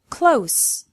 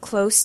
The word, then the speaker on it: close: Close, with an S sound. I live close to the beach. Close, with a Z sound. Please close the door.